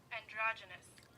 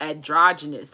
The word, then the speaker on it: androgynous: think that's how you hydrogynous androgynous okay I said in the room androgynous androgynous androgynous androgynous androgynous that's how you say that okay so that's hey